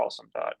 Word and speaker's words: OSoMe: um so the observatory on social media or awesome as the Acron is pronounced is a joint project of the ly